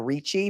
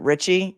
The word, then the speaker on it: Ricci: I want to always say Christina Ricci because the actress is named Christina Ricci, but that defendant pronounces it Richie.